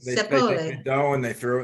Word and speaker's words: zeppole: And also now, do you pronounce it Zippolis or Zeppolis? Zeppolis. They take Zeppole.